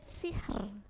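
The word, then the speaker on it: سحر: rongga mulutnya penuh tapi beda dengan tar Kek sihr sihr nah meringis bikr sihr Nah bisa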